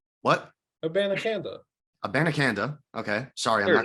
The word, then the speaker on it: Abanikanda: Abanikanda.